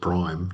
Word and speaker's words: PRME: You can pronounce it prime. Just put a fictional I in there.